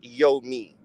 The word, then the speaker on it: Yomy: It's pronounced Yo Me. However, right, It's Yo she Me with don't a like Y? when you say Yo Me. Yes. Mm-hmm. How was it spelled? YOMY. I thought it was Yo Ma. You know people That's are how it's spelled.